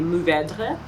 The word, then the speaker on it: Mourvèdre: Now you can roll your R here, especially at the end. Oh my god, that is so hard. Mourvèdre. That's not bad too. I would say my suggestion would be Mourvèdre.